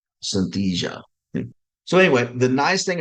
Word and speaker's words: Synthesia: you David the Avatar I don't know how you say it I you know my Southern accent won't let me say it it's s s y n t h s i a Synthesia Synthesia so anyway the nice